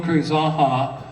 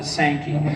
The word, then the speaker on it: Zanja: utensil and uh mil zaha and I'm pronouncing it correctly if you live in Redlands for a number of years you called it sanki you were wrong for hundreds of years because sanki if you look at